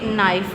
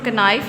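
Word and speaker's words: knife: जब भी के बाद एन होगा। ठीक है? किसी भी वर्ड में जब के बाद एन होगा तो उसको हम के को साइलेंट कंसीडर करेंगे। के को हम प्रोनाउंस नहीं करेंगे लेकिन राइट करेंगे। ठीक है? जिस तरह अब ये नाइफ लिखा हुआ है। ठीक है? एन आई एफ ई नाइफ। लेकिन हम इसको कनाइफ नहीं पढ़ सकते।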